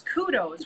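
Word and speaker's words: Qdos: the ones that's dearest to my heart, is Kudos, which is Q-D-O-S, because of course everybody can spell it with a K, but it is Q-D-O-S, and they make a zero screw furniture anti-tip kit.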